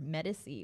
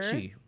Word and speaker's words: Medici: Oh, we are looking at number 24 for Medici or Medici, whichever it's you prefer. Medici. Well, I mean, there's different pronunciations in Italy for it.